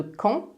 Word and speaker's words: quand: fait la liaison et on prononce le D de quand comme un thé canton pourquoi parce que la